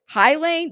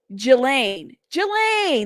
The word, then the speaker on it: Ghislaine: Highline. Jane, stop. Not see, you're trying to make me say it wrong. Okay. Jelaine.